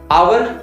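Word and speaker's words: hour: आवर की starting H से हो रही है, कॉन्सोनेंट लेटर से, बट एज I told you कि इसकी जो प्रोनाउंसिएशन है वो अ से हो रही है, आवर।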